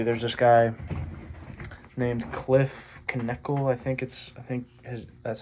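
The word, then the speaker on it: Knechtle: But yeah, basically, there's this guy named Cliff Knekle. That's how you pronounce his last name.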